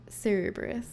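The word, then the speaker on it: Cerberus: General rule for Latin words in English is that C before E becomes a soft C. Cubberus.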